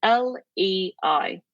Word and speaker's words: Lei: Lei in Italian is spelled L E I. Lei. How do I remember Lelay? Lei. Leia. Leia. Princess Leia. Leia. She.